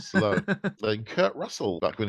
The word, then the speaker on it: Stallone: you can pronounce that can you pronounce the name of the first actor correctly Sylvester stallon no you can't it's Sylvester Stallone then Kurt Russell back